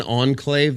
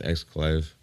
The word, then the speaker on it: exclave: Have I been saying enclave the entire time? It's actually pronounced exclave. Oops!